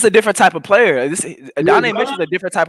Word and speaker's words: Adonai: Adonai. That's how they say it.